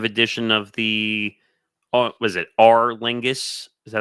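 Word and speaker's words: Aer Lingus: marking the 5th consecutive edition of the was it R Lingus? Is that how you say it? Our Lingus College Football Series, right?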